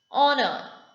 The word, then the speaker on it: honor: Honor. It is a great honor to meet you, sir. That is honor. Next is silent L and silent N.